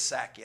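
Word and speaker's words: Psaki: was very sarcastic uh I think it's saki I think the p is silent yeah when you pee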